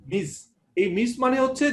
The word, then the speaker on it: Ms: এটা হচ্ছে যে এমএস দিয়ে যে আমরা মিস বুঝাই সেটা কিন্তু উচ্চারণটা মিস, MI জেড এর মতো মিস।